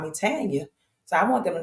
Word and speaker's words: Tanya: part of my first name is it's pronounced Tanya t a n y a um even though